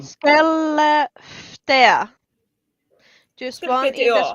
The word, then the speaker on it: Skellefteå: Skellefteå. Yeah. Oh, it's A, pronounced like A is Speaking- pronounced as Yeah. A is pronounced as O.